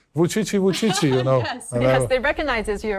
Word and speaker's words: Vučić: popular among Chinese netizens, they even give you a nickname called 577 because the pronunciation of your name, Vučići. Vučići, yes, right? Actually, it's the same with the numeral pronunciation of Chinese.